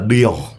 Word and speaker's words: De Jongh: Jadi sebenarnya tuh ada bedanya karena aku ada H-nya di belakang. Kalau pemain Belandanya enggak ada H-nya, Kak. Oh, berarti kalau ada H-nya bacanya apa? Deong. Oh, tetap Deong. Oh, Deong juga.